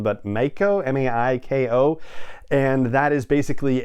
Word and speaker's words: maiko: trainee aspect of it pardon me for the pronunciation but maiko m-a-i-k-o and that is basically a geisha in